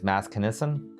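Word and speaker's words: Maskenissen: I probably mispronounced it, but I think it's Maskinissen. Correct. Will we see more from the Maskinson Twitch in the future?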